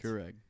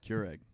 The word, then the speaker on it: Keurig: times over Keurig nothing it's not how you say it Keurig how you cure a disease Keurig Keurig Keurig that word